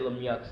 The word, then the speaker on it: Lemieux: And yeah, I said Lemieux.